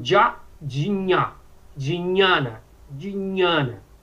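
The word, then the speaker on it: ज्ञान: Nunca ginana, que todo mundo fala ginana yoga. Nunca dinhana. Mas nós podemos ver que existe regionalismo na Índia. Dependendo do local da Índia, esse dinha, de Jnana, é pronunciado diferente. Na Bengala, essa pronúncia que você colocou agora, já para você falou Diana, que lembra muito o cognato gnose, né? Diana. Essa é a pronúncia da bengala.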